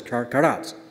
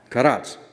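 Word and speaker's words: כרת: Now if you can pronounce this, karat. Can you pronounce that? Karat. All right? Just remember the word karate, but don't say karate. Just say karat.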